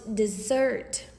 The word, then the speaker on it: Desert: Southwest Harbor is on an island called Mount Desert. She pronounced it dessert.